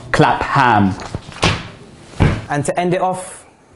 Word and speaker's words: Clapham: It's Clapham, not Clapham.